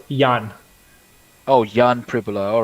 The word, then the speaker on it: Jan: gary wagner versus jen john is it it's john pribula right yeah it's actually pronounced yan oh yan pribila all